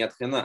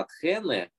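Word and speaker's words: Ἀθήνη: Атхене – то есть ударение другое, не Атхена, а Атхене, и на конце не альфа, а это.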